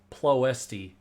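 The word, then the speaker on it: Ploiești: the theme of its it's pronounced plough st outskirts deploys the outs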